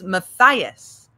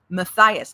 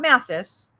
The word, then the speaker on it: Matias: It's Matias. Matias, not Matthysse.